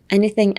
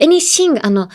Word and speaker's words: anything: Traditional, all this, all as pronounce it as.And next is anything else, anything else, anything.